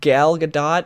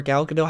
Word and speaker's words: Gal Gadot: if Gal Gadot, or Gal Gadot, however you say it, I'm going to call her Gal Gadot because I think that's how she pronounced it when I heard her like say it before.